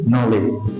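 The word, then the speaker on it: knowledge: এখানে কিন্তু ডি উচ্চারণটা হচ্ছে না তাহলে সঠিক উচ্চারণ কি নলেজ নলেজ নলেজ শব্দটির অর্থ কি জ্ঞান নলেজ শব্দটার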